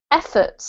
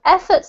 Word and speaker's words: effort: the same meaning um efforts i'm trying to find somewhere around here uh yeah so efforts there is efforts has the the um emphasis on the first syllable okay effort effort that's good yeah and